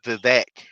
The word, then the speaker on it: Vivek: That's the his name is pronounced Vivek. That's Vivek.